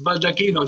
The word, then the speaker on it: Baldacchino: So, for those who don't know me, my name is Baldacchino, not as John pronounced it, because he's from the UK, so if he pronounces it wrong, it's Baldacchino, John.